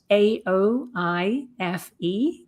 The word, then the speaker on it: Aoife: So, it's spelled A O I F E, Aoife.